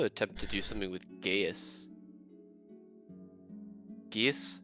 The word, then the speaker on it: Gaius: Also attempt to do something with Gaius. Gaius? How do you pronounce that word? Geese. Gaius? Mm-hmm. At least that's how I've always heard it.